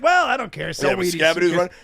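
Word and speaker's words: Skattebo: It's Scabado. But they're like, Scabadoo sounds fun. And you're like, but it's not the spelling. There's one O.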